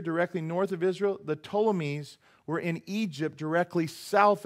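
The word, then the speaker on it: Ptolemies: Antiochus and then the toames you don't pronounce the P the toames the seusd hear this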